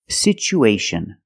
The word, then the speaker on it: situation: pronunciation for this word we see the T as a second syllable with Tua so we pronounce it with the CH sound it's pronounced situ situation one situation or two situations so the second syllable is the long oo like Boot and moon situ situation we have